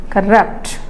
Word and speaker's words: corrupt: so in diic word when it is a verb then the stress is on the second syllable it's a one rule corrupt next Cy okay so